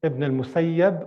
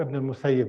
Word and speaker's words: Ibn al-Musayyib: like Ibn al-Musayyab or Ibn al-Musayyib. It could be pronounced in either way. He did not like people saying Ibn al-Musayyab. He prefers people called him Ibn al-Musayyib. He liked this name.